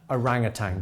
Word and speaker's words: orangutan: what is it now I realize there is some debate about the pronunciation of orangutan but I'm going with a Ranga tang because it's always been orangutan and I'm sort of sticking with it I'm guessing the orangutangs